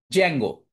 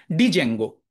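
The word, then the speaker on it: Django: তার মধ্যে সবচেয়ে পপুলার চয়েস হচ্ছে জ্যাঙ্গো। আমি একটু দেখাই আপনাকে। এইটা হচ্ছে জ্যাঙ্গোর ওয়েবসাইট। এটার প্রথমে একটা ডি আছে। ডি টা হচ্ছে সাইলেন্ট। এই ডিটা উচ্চারণ হয় না বা এরকম ভাবে কেউ বলে না। ডিজেঙ্গো।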